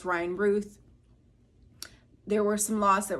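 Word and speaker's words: Routh: I heard his name is pronounced Ruth. I might have pronounced it the wrong way in the video prior, but it's Ryan Ruth.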